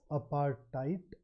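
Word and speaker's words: apartheid: case you are not aware of it the pronunciation of this word is aparti I learned it long uh I learned it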